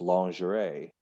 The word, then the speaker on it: lingerie: no i'll just say in english we're probably not saying it the way the french do but it's pronounced lingerie lingerie that's a bad